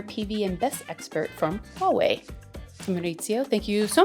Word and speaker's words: Huawei: Uh, or Hulvi, I think in Germany is how they pronounce. Yeah, it would be German. Yeah. But the real name is Huawei.